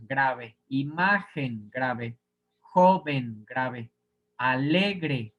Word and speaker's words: alegre: imagen grave joven grave alegre grave si fuera aguda se pronuncian diría alegre sí que sería dependiendo del contexto no me alegré ahí sí sería aguda y debería de llevar tilde alegre es grave aquí en este caso